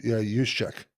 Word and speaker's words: Juszczyk: Kyle Juszczyk.